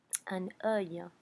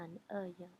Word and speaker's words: un œil: So, un œil is how you say that, un œil.